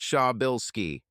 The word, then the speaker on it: Przybyszewski: It's pronounced Sha-bill-ski.